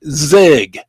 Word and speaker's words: ZiG: And this is big, and it rhymes with big. It's the ZIG, Z-I-G.